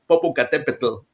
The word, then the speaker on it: Popocatépetl: ancient Aztecs, yeah, they don't say Popo, but it's Popocatépetl.